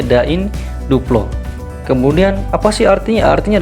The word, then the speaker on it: da in duplo: Kemudian kita ambil lagi beberapa, ya, misalnya di sini ada de in dua plo, ya, dalam bahasa Latinnya da in duplo, dan pengucapannya da in duplo.